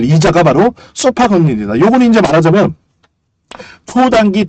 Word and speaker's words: SOFR: 그 다음에 우리가 봐야 될 거는 소파 금리입니다. 소파 금리. SOFR인데 읽기를 소파라고 읽어요. 소파. 우리 뭐 마루에 있는 소파, 뭐 거실에 있는 소파 이런 식으로.